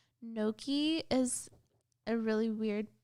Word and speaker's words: gnocchi: Like, gnocchi is a really weird, it's like potato pasta. Gnocchi? It's called gnocchi, but it's spelled really weird. It starts with a G.